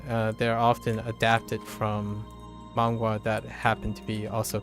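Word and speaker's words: manhwa: else oh oh mangwa yeah mangwa m m a n h w a that's how I pronounce it I don't know how other people pronounce it but yes yep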